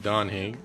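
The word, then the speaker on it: Dan Heng: No, I would have pronounced it Don Hing.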